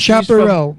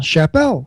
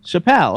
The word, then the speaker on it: Chappell: There's no R in her last name. Spell her last name. C H A P P E L L. Chappelle. Chappelle. She's French. Chappelle.